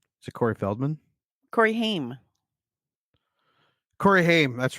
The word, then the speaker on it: Haim: Corey Haim. Corey Haim, that's right. Yeah. Oh, as a kid, I always said Ham too. And there, of course, it was always girls. They'd be like, Haim.